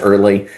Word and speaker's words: Ehrle: My crazy last name of e hrl e, you'll find me pronounced early.